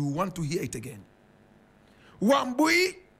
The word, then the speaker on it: Wambui: decided to call herself Wambui Wayaki Otieno Mbugua. You want to hear it again. Wambui Wayaki Otieno Mbugua. Wambui is spelled W-A-M-B-U-I. Wayaki is W-A-I-Y-A-K-I.